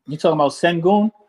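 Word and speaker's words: Şengün: name you talking about sengun sengun yeah that's sangoon dude is good he's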